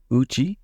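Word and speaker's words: 内: Next we have uchi for inside. Uchi. Says the word is made up of a single kanji. It should use the kunyomi reading.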